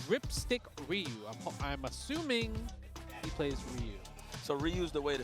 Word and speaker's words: Ryu: Ryu. It's supposed to be Ryu. But everybody, so it's both wrong. They're both wrong. Yeah. I think I remember Ryu is like it's just one syllable.